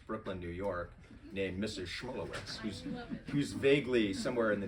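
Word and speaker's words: Schmulowitz: Schmulewitz, as I pronounce it.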